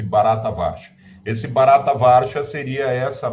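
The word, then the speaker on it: Bharatavarsha: Índia Então esse eh barata vcha pronuncia-se barata varsha esse barata varsha seria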